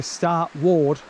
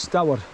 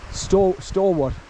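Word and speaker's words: Staward: Now Stoward, you know, if you pronounce it the way we would say S-T-A, Star Ward, it's not what we pronounce as Stoward. That's S-T-A-W-A-R-D, Stoward.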